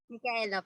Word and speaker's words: Micaela: Tama ba yung pag-pronounce namin? Michaela. Micaela po.